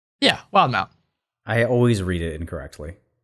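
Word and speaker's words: Wildemount: Yeah, Wildmount.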